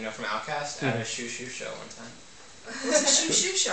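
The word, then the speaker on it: Xiu Xiu: from Outkast, at a Shoo Shoo show one time. What's a shoo-shoo show? Do you know the band Shoo Shoo? No. It's spelled Xiu, Xiu.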